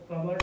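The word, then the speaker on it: cupboard: ಹೇಳ್ತೀವಿ ಕಪಾಟು ಕಪಾಟು ಕಪಾಟಿಗೆ ಇಂಗ್ಲಿಷ್ಅಲ್ಲಿ ಒಂದು ಪ್ರೊನೌನ್ಸಿಯೇಷನ್ ಏನದು ಕಬೋರ್ಡ್ ಅಂದ್ರೆ ಹೌದೌದು ಅದೇನೆ ಕಬೋರ್ಡ್ ಕಪ್ ಬೋರ್ಡ್ ಸೋ ಇಲ್ಲಿ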